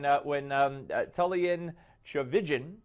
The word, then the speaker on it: Tullian Tchividjian: So when Tullian Tchividjian, perfect.